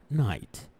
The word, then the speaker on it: night: طيب تمام حلو، نروح للفكرة الثانية، أيضا قد لا ينطق إذا اجتمع الحرفين ذولي، لا ينطق عادة إذا كان في وسط الجملة، مثل كلمة sorry مثل كلمة night تمام. night تلاحظ أنه الحرفين ذولي ما يح night، ما في أي نطق يعني هذول.